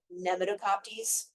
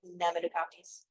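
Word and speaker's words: Knemidokoptes: This is called Nemidocoptes. It's a KN. K is silent. Nemidocoptes.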